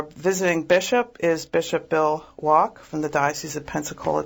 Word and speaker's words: Wack: The last name is spelled W-A-C-K, but it's a German pronunciation apparently, so it's Bishop Bill Wack.